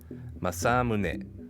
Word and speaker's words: Masamune: rather simple pitch pattern we can easily adapt this into english by placing stress on the second syllable masamune close enough a reasonable